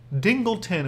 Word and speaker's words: Dingleton: Dingleton, which sounds like Singleton, or rhymes with Singleton, so maybe it's like all your cards are dinglers?